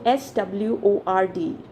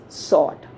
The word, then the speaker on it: sword: words now left so s w o r d so is it sword no it's sort now very interestingly w is silent here okay so it's a